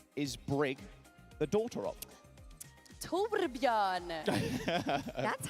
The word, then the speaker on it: Torbjörn: Torbjörn.